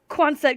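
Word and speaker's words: Quonset: garage it's quanset I heard them say it in the in the hinterland video that was announcing all this and I'm like oh okay cool quanset garage I was reading it correctly I can say it correctly I feel less like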